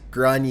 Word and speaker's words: Grainne: A teenager named Grainne [“Graw-nya” (video pronunciation link here)] Dowdall and her friends believe that she has captured a paranormal entity using Snapchat.